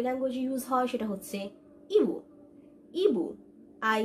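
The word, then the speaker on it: ibu: যেখানে যেখানে আমরা আই দেখবো মালয় ল্যাঙ্গুয়েজে, সেখানে সেখানে আমরা ই ই ই, ফিট, ই ই ই উচ্চারণ করবো, ওকে? সো বেসিক্যালি আই এর উচ্চারণটা তাহলে হবে ই ই ই, ওকে?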